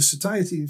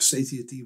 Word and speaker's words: satiety: two elements from the satiety theory, or satiety, however you want to pronounce it, depending on whether you're American or British or German or whatever.